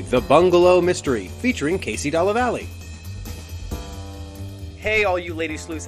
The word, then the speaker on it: Dallavalle: Yeah, Dallavalle.